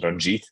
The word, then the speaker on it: Ranjit: name or my official name Indian name is Ranjit which is spelled r-a-n-j-i-t but my entire life uh people